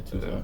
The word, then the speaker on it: Tucson: Yeah, Tucson.